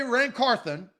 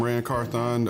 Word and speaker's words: Carthon: it's rancorthon foreign carthon he doesn't say rancarthen he says hey I'm Rand carthon uh director and carthon